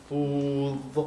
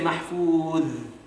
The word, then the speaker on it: محفوظ: محفوظ. Now, if you say mahfuz, right, that's a that. So that's where the distinction comes. Because this has to be pronounced thick.